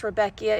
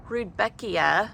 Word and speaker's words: Rudbeckia: I always thought Rudbeckia, which I had to look up how to say it, was always Rudbeckia. So when I looked at the nursery tag, I was just surprised it had a D in it, Rudbeckia, instead of Rudbeckia.